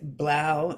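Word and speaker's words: 3LAU: culture well you know the Blau as the three Lau is pronounced and Steve Aoki I've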